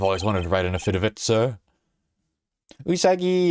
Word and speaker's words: affidavit: I think it's pronounced affidavit. Affidated. Affidavit. Like affidavit. Like a guy. Like the guy. Like the guy. The guy. David.